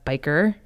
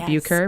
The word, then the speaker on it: Beuker: bit about yourself so biker not beuker biker spelt that you care